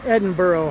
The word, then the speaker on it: Edinburgh: way to Megan's house hurray hurray it is pronounced Edinburgh ha I knew it thank you Bay City